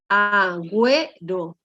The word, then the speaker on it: Agüero: Entonces, miren, estos dos puntitos que están arriba de una vocal, ¿no? Se llama diéresis y me permite que yo pronuncie por separado, ¿no? Esas dos vocales que están ahí, ¿no?